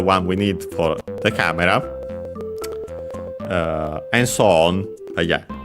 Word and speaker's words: カメラ: But yeah, first and foremost we have a camera. Of course, camera as in photo c uh uh a camera for photographs from English accented just like in English on the first syllable.